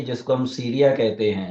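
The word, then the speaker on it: سوريا: रहे वह वास्तव में अरबी भाषा में उसका जो उच्चारण है वह सूर्या है आपको सूर्या का तो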